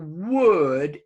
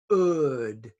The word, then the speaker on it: would: students fail it is the w before the you or the Oh whew or whoa for example would is for most students we can hear the W we cannot hear the students W because they say it like the booth in other words the word wo uld many students say good good okay that's a